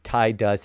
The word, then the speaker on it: Tidus: I say tie dust and zedane. Tie dust because that's the correct phonetic way to say in English.